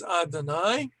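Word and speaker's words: Adonai: to be all right so we're going to pronounce it as adanai so we're going to read these three words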